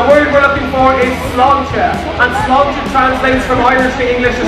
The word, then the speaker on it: sláinte: If you have trouble remembering or pronouncing sláinte, all you have to do is say, it's a lawn chair, really quick.